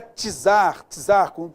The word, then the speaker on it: tzar: Eu tenho tzar, a pronúncia é tzar, é como se fosse T, tá beleza?